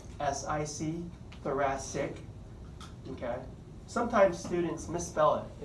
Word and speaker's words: thoracic: notice how thoracic is spelled CIC but it's pronounced si si thoracic okay sometimes students misspell it and even they